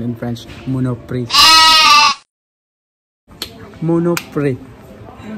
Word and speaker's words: Monoprix: The correct pronunciation in French, Monoprix.